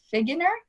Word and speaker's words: Figgener: christine i heard your last name was produced earlier pronounced earlier figure nur ii is perfect awesome okay dr.